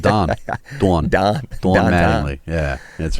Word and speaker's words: Don: When I said dawn, I was like, wait a second. Yeah. It's like the Pittsburgh pronunciation of Don.